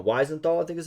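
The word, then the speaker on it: Wiesenthal: Weisenthal, I think, is how is pronounced.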